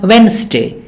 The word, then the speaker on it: Wednesday: is sandwich sandwich similarly not wetness day but Wednesday Wednesday the tea is silent handkerchief the D is silent handsome this